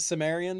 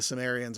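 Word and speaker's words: Cimmerian: Okay, I never knew if it was a soft C or a hard C or if there's any weird pronunciation. You'd think that it would be a hard C because Celtic is, Yeah.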